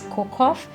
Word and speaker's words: Cocoft: Often people say Cocoft. They really don't know how to pronounce it. Even I don't really know how to pronounce it, but it's Cocoft because it's actually CO. The first CO is for cocoa, and then COF is coffee, and the T is tea.